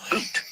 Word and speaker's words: but: It's spelled B-U-T, like the word butt. You're absolutely right. My apologies. I was focusing on the literal translation. and miss the colloquial hockey term you're referring to. You're thinking of butt, pronounced like boot.